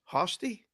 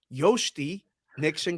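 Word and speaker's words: Jhostynxon: Hosty? Yosty? Y. You say J like a Y. Yosty Nixon Garcia.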